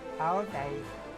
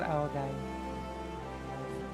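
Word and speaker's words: Áo dài: Full Ao Dai. Ao Dai. Because when there's D without the dash, in Vietnamese it's like Z. pronounce it Z at the moment.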